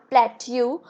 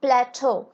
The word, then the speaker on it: plateau: would like you guys to understand that the pronunciation it is not plat u it is plateau and please keep that in mind the correct